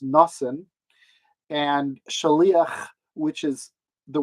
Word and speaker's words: Nathan: on the stage so i'm going to use the yiddish pronunciations that are actually in the libretto for the character so we have bathsheba who's pronounced basheva and nathan who's pronounced nassen and shalia which is